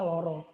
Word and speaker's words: lara: bahwa temannya sakit gitu koncoku loro itu pakai Clara gitu tulisannya Tapi bacanya loro Kalau teman kalian ada